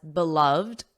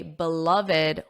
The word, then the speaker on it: beloved: And some native speakers do pronounce it as beloved, the 2 syllables, but it is common, more common to say beloved with the 3 syllables.